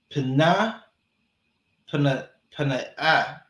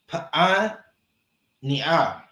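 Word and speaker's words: Paaneah: And Pharaoh called Joseph's name Zaphanath Panah Panah. Salaki, I mispronounced that. Pa'aniah.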